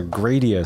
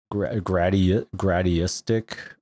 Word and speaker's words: Gradius: We used to say, we have like a lot of variations of how to say this, like gradiistic, or even though there's no T. We usually just say Grad Cyber because we're like, well, what does this actually say? No, it's Gradius.